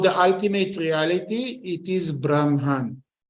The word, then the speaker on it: Brahman: Ultimate Reality it is Brahman with n at the end like Nancy okay and when we